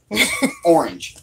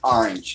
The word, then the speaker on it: orange: over there to you you're saying it wrong orange not orange there are two syllables in that word it's orange I really it's orange so range orange he polished off that